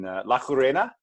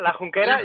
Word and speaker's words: La Junquera: In La Jurena, did I pronounce it right? Yeah, La Junquera, yeah. La Junquera.